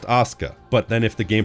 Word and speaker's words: Asuka: Like, yeah, technically that spelling can also be Shana, but it's like Auka in GTA 3. In real life, it should be pronounced Asuka.